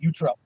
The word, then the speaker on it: Utrup: It is pronounced Utrup. So I said it right, Utrup.